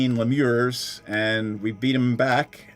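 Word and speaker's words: lemure: Lemurs. L E M U R E.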